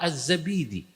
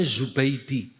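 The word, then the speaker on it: Az-Zabidi: Kok bisa dapat kitab ithafus Sadatil Muttaqinnya Syekh Murtadha Azzabidi yang orang sini bacanya Zubaidi.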